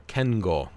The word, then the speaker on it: Kingo: suit number four is Kingo or Ken goal if you want to pronounce it like Japanese Marvel Studios eternals and